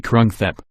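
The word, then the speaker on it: กรุงเทพ: 200 years the city's day-to-day name is actually Krung Thep pronounced Grunk gape and is referred to as such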